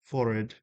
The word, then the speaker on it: forehead: Uh or as uh the old RP people used to say forid. Uh I think it rhymes with horrid.